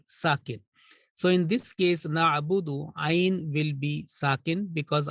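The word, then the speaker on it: نَعْبُدُ: So pronunciation will be na'budu, bu and du.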